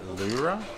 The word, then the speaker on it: Leura: So we're currently in Leura, we believe it's pronounced. It's spelled a little bit differently to Laura.